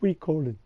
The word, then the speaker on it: Suikoden: It's pronounced Suikoden.